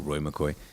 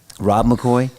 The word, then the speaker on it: McCoy: Sorry, I don't know why Roy McCoy. It rhymes at least. Rob McCoy rolls off the tongue. Yeah, that's right. Rob McCoy to Frank Turk.